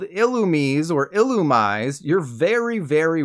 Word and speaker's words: Illumise: on the word illuminate so I don't know where they got the pronunciation of illumise regardless there you go illumise it hurts me to say it like that next up I don't